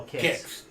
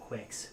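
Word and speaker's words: Qix: yeah no no no kicks kicks is tough and for years by the way in arcades it was called quicks nobody knew how to pronounce it that's a that's a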